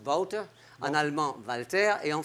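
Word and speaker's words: Wouter: C'est mieux d'ailleurs je trouve parce que tu t'appel water ou en hollandais ça s'écrit W O U ça se prononce Woutter en allemand Valter et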